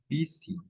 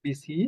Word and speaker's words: busy: Busy. You know what BC is? Yes. When you have too much work. When you have too much homework to do, you are busy. No. Busy. Remember the pronunciation. Busy.